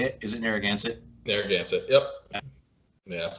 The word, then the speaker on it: Narragansett: is that how you say it is it narragansett there that's it yep yeah my taste is